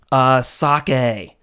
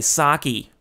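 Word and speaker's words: 酒: Sake, as we Americans say, sake. I'd like to try some sake. Sake, as it's pronounced in Japanese.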